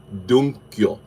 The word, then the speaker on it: Dukkyo: Dunkyo. It's spelled Dukkyo.